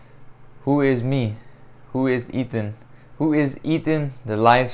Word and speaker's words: Ethan: time saying my name pronouncing the th in my name i i always grew up saying eaten ethan i say quick but